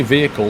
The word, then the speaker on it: vehicle: these days vehicle bugs that's how the Americans pronounce vehicle they we say V vehicle they say vehicle it's just a pronunciation thing uh no we're not